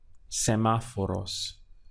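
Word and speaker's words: semáforos: would be semaphore OHS semaphore us so the accent is important in the middle of the word for correct pronunciation sama for us so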